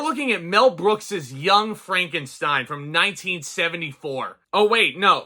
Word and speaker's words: Frankenstein: So much so that he insists on having his last name pronounced in a different way. My name, it's pronounced Frankenstein.